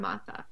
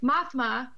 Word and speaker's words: Mothma: before bringing her to the Rebel leader Mon Mothma. Oh, we haven't seen her in a while. Mm-mm. Mothma, I said it wrong the first time, convinces